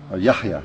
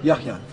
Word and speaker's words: Yahya: Yahya. Yahya.